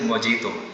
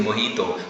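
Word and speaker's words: mojito: shake चाहिए या फिर मोजीतो लोग देख रहे थे उन्ह की इन्होने खुद ही मोजीतो बोल दिया तो मोजीतो मोजीतो कुछ नहीं होता इट इ मोहितो भले जे लिखा हुआ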